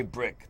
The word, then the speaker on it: BRIC: it's br bree o'brien it's brick it's really they say brick that's the way they pronounce that brick arts they corrected me on that one it's brick arts b-r-i-c-a-r-t-s